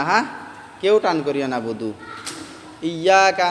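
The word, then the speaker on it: نعبد: হ্যাঁ কেউ টান করিও না বুদু ইয়াকা নাবুদু কেউ কেউ এরকম ভাবে টান করে এই বুদুটা দান করিও না ইয়াকা নাবুদু ওয়া ইয়াকা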